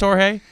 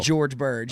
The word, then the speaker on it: George Birge: Is it pronounced Jorge? Well, it's the G's a little harder on it. It's Oh. a George Birge.